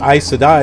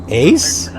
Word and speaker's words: Aes Sedai: And the only reason why I know it's pronounced Aes Sedai is because I went to the back of the book and looked to find out how it was pronounced. Because before I'm like, Ace? East?